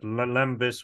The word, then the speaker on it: Lampis: So just so that people know, I said Lampis with a B. That's how you officially say it in Greek.